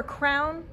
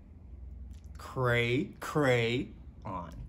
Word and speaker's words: crayon: No, it is definitely crayon. Or crown. Crown, no. No, no. Then how do you say this word? Crayon. Cray, cray, on.